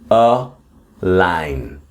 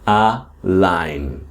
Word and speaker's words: align: And again, the pronunciation here is a line. I know you can see the letter G, but it doesn't it's mute. It doesn't pronounce you don't pronounce it. Okay? Align.